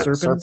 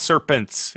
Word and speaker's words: Serpens: Serpents, like the snake. Yeah. No, it's not Serpents. It's Serpents. SERPENS.